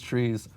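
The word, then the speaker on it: trie: the leaves of these trees are arrays okay good okay so now you can imagine like a try then it is a try okay very good you know some people pronounce a tree I don't know how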